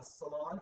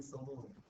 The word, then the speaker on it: salon: are a beauty uh Salon am I saying it right I always used to say a beauty Saloon and then they left